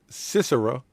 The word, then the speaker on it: Sisera: For this is the day in which the Lord have delivered Sisera, yes, that's how you pronounce it, Sisera, into thine hand.